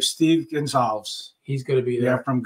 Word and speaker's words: Gonsalves: Right, Steve Gonsalves.